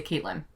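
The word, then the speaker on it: Catelyn: used to love Catalina Oh Catalina Catlin Catlin yeah Kalin well I think in America would say Kaitlyn we're not pronounce of Catlin I don't think it's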